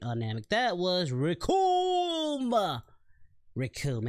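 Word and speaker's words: Recoome: Rikum, and it rhymes with Doom.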